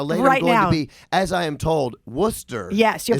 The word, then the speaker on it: Worcester: let you pronounce it Worchester exactly yeah yeah yeah so you know I pronounce it correctly you did it's like Worcestershire like nobody knows really